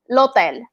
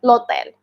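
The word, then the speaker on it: l'otel: It's the same as in the Spanish, we don't pronounce the H. We say like lotel.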